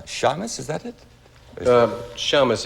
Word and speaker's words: Shamus: Uh Shamus, if you're Jewish, Shamus is the correct pronunciation.